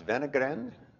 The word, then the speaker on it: Wenner-Gren: is for you Steve in Swedish w is pronounced as V thus venogram the protagonist in this